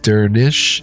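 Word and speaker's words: Dernisc: Dernish, I was right, is pronounced Dernish since the final SC cluster sounds like an SH sound.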